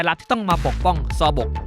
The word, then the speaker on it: Seobok: อะไร รู้ ไหม ครับ ผม อ่าน ว่า ศพ ออก ครับ จริง ๆ แล้ว นะ นี่ อ่าน ว่า ซอ บก นับ แล้ว ต่อ บก